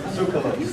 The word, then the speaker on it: Tsoukalos: And obviously, through the work of Eric von Daniken and Giorgio Tsoukalos, I always say your name wrong, it's Tsoukalos. Actually, it's Miller. Okay. No, it's Tsoukalos.